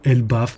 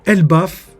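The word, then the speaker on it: Elbaph: Après des années d'attente, le nom officiel est Elbaf et non Elbaf. À l'oral, c'est bizarre, mais la vérité c'est que Elbaf, ça s'écrit E-L-B-A-P-H à la fin, au lieu d'un Elbaf totalement lambda.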